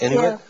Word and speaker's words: Inuit: Inuit?